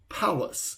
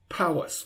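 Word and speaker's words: Pallas: to listen the largest asteroid is the asteroid palace and it's spelled p-a-l-l-a-s and it's 500 kilometers in diameter palace 500 kilometers in diameter so asteroids are these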